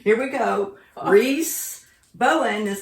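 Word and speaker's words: Rhys Bowen: good and I did look up how to pronounce the author's name and it is Reese Reese Bowen r h y s Reese Bowen the Ghost of Christmas Past Amalie Murphy mystery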